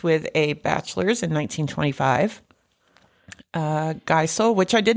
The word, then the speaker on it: Geisel: It's spelled Geisel, which it could be Giesel, which is like diesel. Although diesel has the I before E.